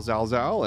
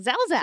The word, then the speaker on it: Zalzal: It's 3 letters repeated itself, but people manage to mess it up. Yeah, just like Glaucomfleckens. It's such an easy thing. Spelled like, just like it sounds.